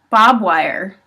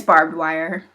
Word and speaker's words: barbed wire: commonly supposedly just another one pronounced Bobb wire Bob wire it's barbed wire not Bob I don't know who Bob is it's not okay I